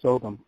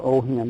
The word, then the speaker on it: Ogham: And so the third thing they found up there was Ogham, or Oham, they pronounce it differently.